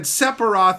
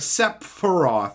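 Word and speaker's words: Sephiroth: instead of aith and he said separo instead of sep foro or whatever which is that's not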